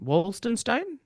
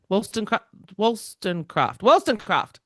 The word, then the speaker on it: Wollstonecraft: Because her mother is Mary, I'm going to say can't pronounce her name. Wollstonecraft. Wollstonecraft.